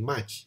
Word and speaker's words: Mach: Oleh itu, seorang ahli sains bernama Ernst Mach, okay, M-A-C-H, awak panggil Mach lah, jangan panggil Mach, panggil Mach, okay, M-A-R-K, Mach, okay. Tapi ejaan dia M-A-C-H.